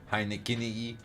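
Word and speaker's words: Heinicke: Heineke.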